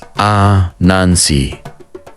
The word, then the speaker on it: Anansi: Anansi, which is being pronounced as Anansi, literally means spider in the Akan language.